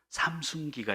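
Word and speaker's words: Samsung: 제가 브라질에 사역할 때요, 삼순기가 있습니다. 삼순기가 뭐냐면 삼성이에요. 삼성을 그들 포르투갈 발음으로는 삼순기 그래요. 삼순기. 근데 이 삼순기 제품은요, 중고 제품이라도 고장나도 얘들이 사요.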